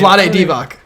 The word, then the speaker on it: Vlade Divac: you pronounce his name? Vlade Divac, Vlade Divac.